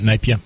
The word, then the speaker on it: Napier: to Napier is that how you say it Napier that's right napia yep okay uh in air but had to